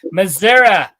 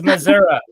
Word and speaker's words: Missouri: that's how people Missouri people Missouri will be like Missoura it's Missoura so tell them about